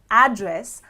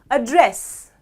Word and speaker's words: address: However, if I stress on the second half of the word and I say address, address is a verb which means to talk to someone.